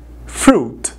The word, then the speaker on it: fruit: palavra fruta é fruta fruit mas não pronunciamos a letra i tá então por um